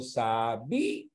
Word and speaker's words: sabía: A ver, entre sabia y sabía, ¿en qué caso la cerrada tiene mayor fuerza de voz que la abierta?